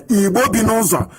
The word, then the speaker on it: Ibom: Ibom. This is this people in Delta State. They call Naja, South, and whatever rubbish they can come up with. Ibom.